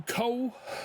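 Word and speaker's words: Kuol: Through Cole. I think that's how you say it. K-U-O-L.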